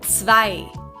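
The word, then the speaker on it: zwei: is sway all right this letter is quite hard to pronounce because it's a zed and in german the zed is pronounced very sharply very harsh so it's like a ts very short and very strong so you put a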